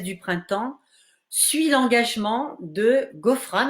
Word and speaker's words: Ghofrane: printemps suit l'engagement de ghofrane alors je prononce à la française jeune tunisienne qui se